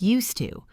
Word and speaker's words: used to: This phrase used to flows very well because the d and the t connect. It sounds like used to.